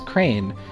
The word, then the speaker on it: crayon: Okay, so she pronounced crayon as crane.